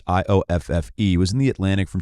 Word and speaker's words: Ioffe: everyone should read um julia eofy i think is the way you pronounce the last name it is ioffe was in the atlantic